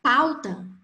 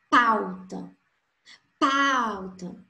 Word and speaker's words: pauta: Então, na palavra pauta, au, A é a vogal, U a semivogal. Por isso, decresceu. Pauta, pauta. Entendem? Então, o som mais forte é no pá.